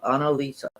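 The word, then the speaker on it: Annalisa: card just for clarity oh your name is pronounced Anna Anna Lisa oh Anna Lisa I said Anna Lisa hunts Anna Lisa what a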